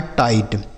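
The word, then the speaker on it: tight: टी आई जी एस टी तो टी आई से पढ़ेंगे बच्चों। टाई और जी एच टी से पढ़ा जाएगा ट। लिखा है टाइट।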